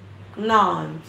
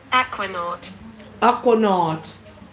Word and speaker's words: aquanaut: I think I know how to spell it, but I don't know what it means. Aquanant.